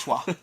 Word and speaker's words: Troyes: Yeah, I know it says Troyes, but it's pronounced Trois.